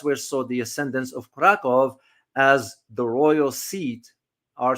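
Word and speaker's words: Kraków: As a matter of fact, a lot of people do not know the history of Krakow, or Krakow as it's pronounced, but it's spelled with the V, Krakow.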